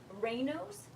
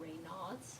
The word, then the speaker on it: Raynaud's: I also reversed, or Raynaud's. So, well, not 100%, a lot of it. So Raynaud's, a lot of people mispronounce it, they call it Raynaud's, but it's Raynauds.